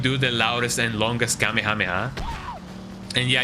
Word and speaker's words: Kamehameha: the loudest and longest Kamehameha. And yeah, I call it Kamehameha, not Kamehameha, because you know, no, that's that's just not how you pronounce it.